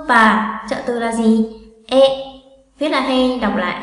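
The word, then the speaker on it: へ: E. Viết là he, đọc là e.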